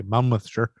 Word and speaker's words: Monmouthshire: a team from the monmouthshire forensic monmouth shire i think english people say mammoth sure and we say mount mother shire the mount mouth shire